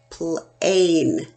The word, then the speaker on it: plane: says my name is a so it's becomes plane plane and it says to the Oh what's